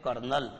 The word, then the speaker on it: colonel: एक होता है बच्चों कोलोनल, जिसको आप हिंदी में कहते हैं कर्नल, ये देखो COLONEL कोलोनल लिखा मैंने, लेकिन आप इसका उच्चारण क्या करते हो हिंदी में, क्या बोलते हो इसे, कर्नल बोलते हो, ठीक है।